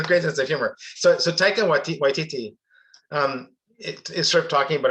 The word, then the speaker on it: Taika Waititi: to an interview with, I'm gonna get his name wrong. Taikiri Wakiri da da da da. Yes, Taika Waititi. Oh my God, I can't believe I'm getting mess already. Taika Waititi.